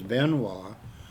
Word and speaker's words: Benoit: with that too because I was known as Benois. Uh when I race snowmobiles instead of Beno because in French it's Benois.